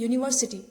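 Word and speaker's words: university: यहाँ पे देखो स्पेलिंग यू से स्टार्ट हो रही है, यूनिवर्सिटी स्पेलिंग यू से स्टार्ट हो रही है लेकिन जो उसका प्रोनाउंसिएशन है वो य से शुरू हो रहा है जो कि हिंदी वाला स्वर नहीं है, तो इसीलिए हमने इसके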